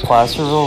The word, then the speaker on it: Placerville: Isn't Placerville one of his local tracks, Kevin?